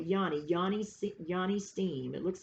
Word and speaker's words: yoni: called a yoni steam i think you probably pronounce it different i'm about to tell you the correct pronunciation yani it's probably yanni yanni yanni steam it